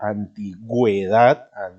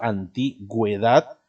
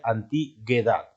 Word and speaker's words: antigüedad: voy a explicar porque si tú escuchas y yo tengo antigüedad de verdad estoy pronunciando la uv y acuérdate para que el wii se pueda pronunciar la uv se pone la diéresis entonces en este caso antigüedad se pronuncia de esa manera y por eso se pone dientes porque si no se pusiera bien existiría antiguedad y no es correcto decir antiguedad sino anti su edad